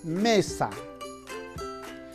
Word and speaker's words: mesa: En la palabra mesa, la sílaba me es la sílaba tónica, porque ahí está la mayor fuerza de voz. La sílaba sa es la átona, porque está la menor fuerza de voz. Se dice me-sa.